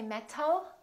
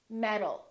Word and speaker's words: metal: we say automatic metal we don't say met oh we say metal therefore this word metal sounds exactly like this word metal metal these two sounds sound exactly the same because the T changes into a d when it's between two vowels let's practice some sentences